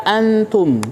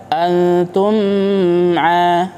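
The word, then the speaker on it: أنتم: Perhatikan pada kata antum. Tum, mim sukun bertemu dengan ain. Bagaimana cara membacanya? Dibaca dengan bacaan yang jelas, tidak dibaca antum a. Nah, ini keliru.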